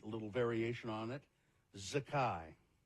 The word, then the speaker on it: Zakai: Zakai. Z-A-K-A-I. Not Zakay? No, I don't believe so.